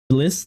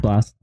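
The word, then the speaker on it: Blxst: how to pronounce this I would say it's Bliss it's B lxst and offset BL okay is it just blast okay just blast so this one we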